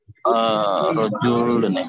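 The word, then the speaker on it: رجل: Rajulun, bukan Rijal. Ya. Rajulun, betul. Bacanya Rajulun.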